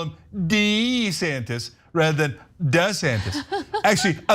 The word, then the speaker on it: DeSantis: No, I can't get past DeSantis.